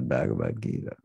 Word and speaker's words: Bhagavad Gita: We'll just say Krishna says in the Bhagavad Gita.